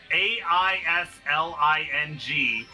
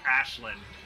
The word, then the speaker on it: Aisling: no isn't it no her name is a-i-s-l-i-n-g but obviously yeah it's celtic so it's pronounced ashland yeah i have a friend